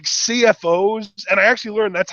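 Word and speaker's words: CFO$: Like there are just like CFOs, and I actually learned that's how it's pronounced. It's not CFO money, it's CFOs.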